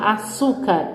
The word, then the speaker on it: açúcar: Como no açúcar, ó. Última, penúltima, antepenúltima, açúcar.